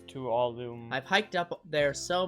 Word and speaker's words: Tuolumne: It's Tuolumne.